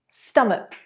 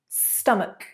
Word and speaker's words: stomach: 81, like ache, stomach, stomach. You've got a k rather than a ch sound.